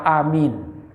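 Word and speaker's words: آمين: Pada alifnya panjang, pada mimnya panjang. Amin itu. Yang tidak benar mana? Amin. A-nya panjang, mimnya pendek. Amin. Karena kalau dibaca amin, itu artinya berimanlah kamu.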